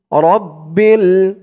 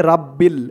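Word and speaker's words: رَبِّ: এখানে দেখুন দেওয়া আছে রাব্বিল। এখন কেউ যদি বাংলা দেখে দেখেই মুখস্থ করে নেয়, না শোনে, তাহলে কিন্তু তার উচ্চারণটা সঠিক হবে না। এখানে বলতে হবে রব্বিল। আগেই বলেছি বাংলা উচ্চারণ আরবির সাথে মিলে না।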